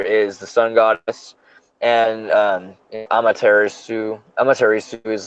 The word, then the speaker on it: Amaterasu: You don't Like, say the U. Amaterasu.